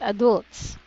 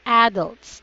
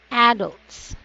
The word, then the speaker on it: adults: this one is not adults its adults there's a stress on the first syllable which is the AH adults very good so next